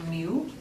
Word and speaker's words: Mu: you agree with that its name in Greek is Mu looks like an M looks like a u I think that's hilarious because I'm a math nerd you say it like like a kitten do you mean Mew is also the mean